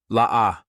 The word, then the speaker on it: La'ah: La'ah. Yes, you read that correctly. Pronounced La-Ah. This name may seem harmless enough, but Georgia is not having any of it.